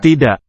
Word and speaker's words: tidak: Dia tidak setuju. Setuju. Dia tidak setuju. Dia tidak setuju. Tidak. K softly articulated. Dia tidak setuju. Setuju. Setuju. I, Tidak.